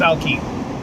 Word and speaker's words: Alki: be fine anyway and alki beach i think it's pronounced alky uh daniel polar bear